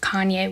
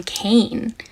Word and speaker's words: Kanye: So I do not listen to Kanye West. I have never heard a Kanye song. I used to pronounce his name Kane because I'm a little dyslexic and that's how I read it.